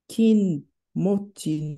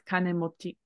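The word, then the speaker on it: 金持ち: To kinmochi no. In this case, it'd be pronounced as kane, but that's a kin would make logical sense, but it's kanemochi.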